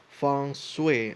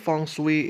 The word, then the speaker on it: feng shui: uh the you know like a fun and sweep or sway you know it depends on how you pronounce things but I think feng shui is um the you know like the common uh pronunciation but yeah um sometimes